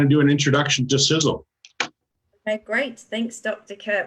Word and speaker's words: Sisel: some people pronounce it sisal I guess it could you know it looks like it's pronounced that way but it's actually sizzle so if this company